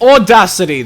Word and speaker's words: audacity: That's not even how Americans are supposed to fucking pronounce it. It's audacity, there's no R!